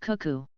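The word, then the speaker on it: CUCU: the first system was called cuu pronounced cuu this Communications box would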